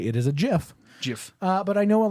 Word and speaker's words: gif: soft G it is and it is a jiff in fact Doc Brown on mmm Back to